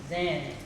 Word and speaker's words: Zen: At the time uh the word it is pronounced as Zen in Japanese and very one was